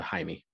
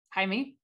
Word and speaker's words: Jaime: my real name um for pronunciation's sake it is uh jaime hi me okay uh and you